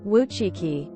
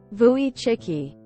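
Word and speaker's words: Wojcicki: course she pronounces it the English way woii instead of the Polish way vuy chicky I feel that if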